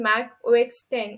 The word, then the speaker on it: Mac OS X: original brand identity was use of Roman number X pronounced as 10 as in mac o x 10 and also the iPhone